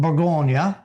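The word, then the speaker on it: Bourgogne: Now sometimes we think burgundy wine is the color but no burgundy is the region in French it's called burggonia and uh so and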